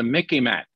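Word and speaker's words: MICIMATT: should be called the mickey mac now those of you who remember mickey mouse okay it sort of rhymes with mickey mouse that's how you remember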